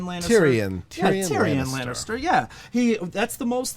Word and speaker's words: Tyrion: Actor in a Drama for his role as Tyrion. Is that how you pronounce it? Tyrion Lannister? Tyrion Lannister.